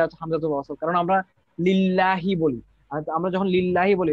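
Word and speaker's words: لِلَّهِ: লিল্লাহি মাফিস এই যে লিল্লাহি বলতেছি আমরা ঠিক আছে এখানে কিন্তু আমরা কিন্তু লিল্লাহি বলার সময় কিন্তু আমরা আলিফ উচ্চারণ করতেছি না সো এটা মানে দুইটা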